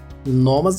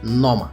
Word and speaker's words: Noma: played the important role Noma Folgers two syllables easy to remember and learn you will